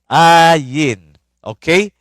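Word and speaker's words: עין: Ayin means sa bible in the Hebrew noun it is pronounced as ae. Ay ae ayen. Ayin. Okay.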